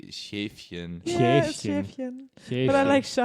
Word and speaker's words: Schäfchen: Why is he called Shaftchen? Like none of this is good. I'm sorry, Kieran. I want to correct your German, pronunciation. It'd be Schäfchen.